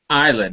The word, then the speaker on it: island: opin well developed yeah you did say Island not Iceland right isand yes right okay